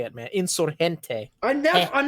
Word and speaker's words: Insurgente: Insurgente combat added to home cities. That's, I'm assuming, 15%. Don't pronounce it like that. You'll offend all the Spanish speakers. Los Hispanohablantes. I'm sorry. Insurgente. Okay. Gente. Insurgente. Okay.